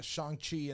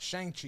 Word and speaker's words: Shang-Chi: It's not Shang-Chi. It's Shang-Chi.